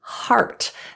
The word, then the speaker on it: heart: The E in English is not pronounced in the word heart. The spelling is EA, and you're going to kind of just look at it like an A.